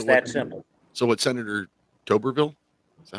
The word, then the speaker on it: Tuberville: So what Senator Tuberville, is that how you say it?